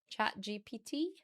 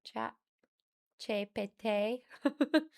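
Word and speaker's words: ChatGPT: You have a colleague that pronounces the letters a Dutch way of going chat GPT, where the G is a soft guttural sound and the E is like A, so chat GPT.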